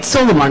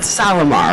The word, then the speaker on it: Solimar: Solimar, not Salamar, right? Solimar. I say that wrong, but the Canadian taught me how to pronounce it correctly.